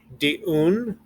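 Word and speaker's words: דיון: Din, dan, dayan, diun. Remember, this yud is attached here, so the syllable breaks here.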